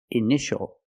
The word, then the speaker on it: initial: patient and this word initial or initials more than one we see TI a together so the t is pronounced sh sh initial initial my initials are k